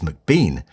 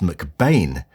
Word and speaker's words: McBean: Welsh photographer Angus MacBean, actually pronounced McBain, had cut his teeth in West End theatres in the early 1930s.